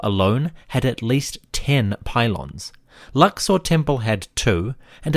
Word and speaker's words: pylon: The Greek word for gate or gateway is pulle or pulon. In the Egyptian context, we pronounce it pylon and it refers to the monumental gateways of the Egyptian temples.